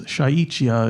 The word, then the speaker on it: šáíč’iyá: And in Lakota culture and lifestyle, we have a belief, and they call this, in a way it's thought of as shaichia, is how you say it in Lakota.